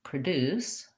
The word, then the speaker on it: produce: more videos for you produce my first syllable becomes the uh or the schwa sound because it's unstressed so for practicing that try just starting with deuce and then a light touch on your first syllable deuce produce similar similarly i'm going